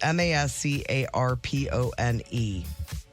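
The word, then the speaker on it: mascarpone: Mascar pone. That's how I think I always would say it, but it's mascar pony.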